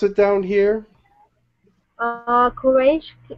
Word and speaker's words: Quraish: How do you pronounce it down here? Quraish. Q-U-R-A-I-S-H.